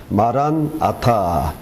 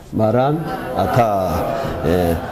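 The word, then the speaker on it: Maranatha: 그래서 이게 이제 음력이 잘못돼 가지고 연음이 돼 가지고 마란아타 이렇게 헬라어에서는 발음했는데 그는 좀 발음이 잘못됐고 마란아타 이렇게 발음해야 됩니다.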